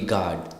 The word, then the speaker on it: guard: thing with the God he is a security guard g u a r d so that's g a